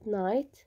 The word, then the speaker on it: night: الآن كمان عندي هون كمان في جي أو اتش بس بدنا نطلعها، اللي هي كلمة نايت بالليل، يعني هاي جي والاتش.